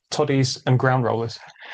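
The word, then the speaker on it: todies: It's a short O to me.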